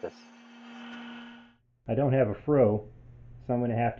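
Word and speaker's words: froe: Now, he just referred to a fro. Now, you youngsters out there that don't know what that is, that's spelled F-R-O-E, and it's like a corn knife-shaped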